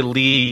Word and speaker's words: Leigh: And also, it's spelled Leigh, L-E-I-G-H. So when you say Lee, you probably think L-E-E.